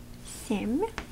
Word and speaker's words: семь: So I would put this piece right here, just to stress the softness of the M in the end.